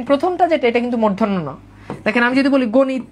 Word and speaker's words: মূর্ধন্য: এটাতে কোন ডাউট আছে মূর্ধন্য আর দেখেন আমরা উচ্চারণ আমরা এগুলো বলি মধ্যান্য কেউ কেউ বলে মধ্য কেউ বলে মূর্ধন্য না এটার উচ্চারণ হচ্ছে মূর্ধন্য আর এইটার উচ্চারণ কি এটার উচ্চারণ হচ্ছে মূর্ধন্য